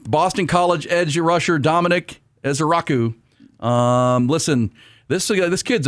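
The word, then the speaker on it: Ezeiruaku: Is Donovan Ezaraku here?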